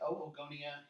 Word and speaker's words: oogonia: So remember, in Latin we pronounce every vowel, so it's not oogenesis, you pronounce both O's, so it's oogenesis, oogonia, oocytes.